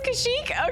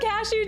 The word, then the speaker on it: Kashyyyk: It's not Kashyyyk, right? It is Kashyyyk? Okay. I thought Cashew too. I was thinking, I was like, hold on. Have I been saying it wrong the whole time?